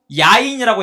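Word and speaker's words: יין: 자, 이 즙이 히브리어로 티로시라고 읽어요. 포도주는 즙이 있으므로 그것을 상한 결과가 뭐냐면 야인이라고 읽어요.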